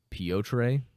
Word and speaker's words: Piotr: Third title fight on there, it's Piotr Peter Petre Jan. So many pronunciations for his name. I believe that it's actually Piotr. Most people just call him Peter.